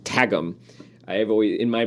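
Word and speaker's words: Qwghlm: to the narrator of the audio book is pronounced tagum I have always in my brain it was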